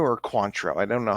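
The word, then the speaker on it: Cointreau: never know how to pronounce this it's either coentro or quantro I don't know how to pronounce it quantro definitely quantro I've been pronouncing wrong there for so long that's fine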